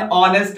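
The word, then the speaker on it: honest: क्योंकि जब हम इसका प्रोनाउंसिएशन करते हैं तो यहां पर हम ऑनेस्ट पढ़ते हैं, ऑनेस्ट ऑनेस्ट पढ़ते हैं। आ हमारा वावेल है, एस साइलेंट है, जब उच्चारण करेंगे तो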